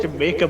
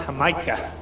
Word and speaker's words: jamaica: brought juice i like how you call it jamaica but it's pronounced hamaika it's pruned have you guys ever been to